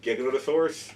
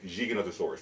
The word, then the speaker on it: Giganotosaurus: I know it's pronounced, people say Giganotosaurus because of Jurassic World, but Rodolfo Correa, who's one of the namers of the animal, refers to it as Giganotosaurus.